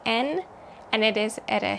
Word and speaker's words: yen: The Japanese currency is called yen, or pronounced more like en, and it is at a historic low compared to the US dollar.